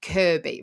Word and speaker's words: Kirkby: So yeah, I live in there's an area where I live not far from me called Kirby, right? And it's spelled Kirkby.